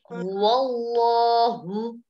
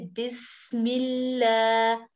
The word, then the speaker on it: الله: If the if fatha or dhamma comes before the name of Allah, okay, we read Wallahu, Wallahu, and comes kasra before the name of Allah, we say Bismillah.